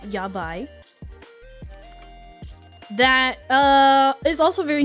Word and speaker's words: yabai: There's a word in Japanese pronounced yabai.